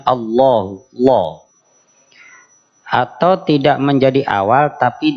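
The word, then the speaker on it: الله: huwal hayyul Qayyum jadi lafaz Allah kalau menjadi pembuka bunyinya Allahu atau tidak menjadi awal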